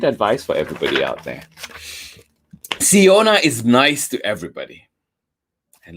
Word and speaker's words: Siona: nice for my best friend siana and you pronounce iona's name si ona siyana siana has an absolutely amazing smile and